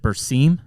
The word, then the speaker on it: Berseem: You've brought up, or you've introduced from the extension side, is it Berseem? Am I pronouncing that correctly?